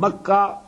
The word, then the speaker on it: Makkah: one that is at Baka Baka and makah is the same word two pronunciations of the same word Bak you know bak